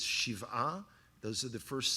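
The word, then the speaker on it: שבעה: Well, in America it's pronounced Shiva. In Hebrew it's Shiv'ah.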